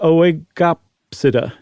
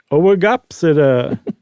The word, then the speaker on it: Oegopsida: I figured one of those in the second group, one of those first two letters would have been silent, but they're both pronounced, huh? That's my take of Latin pronunciation. Oegopsida.